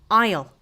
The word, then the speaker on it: isle: Just like this word here is pronounced as isle.